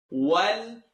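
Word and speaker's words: والآخرة: Wal, commit to the lam. Wal-a-khi. Don't say he.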